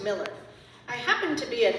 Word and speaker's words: Mueller: My name is spelled Mueller, but it is pronounced Miller.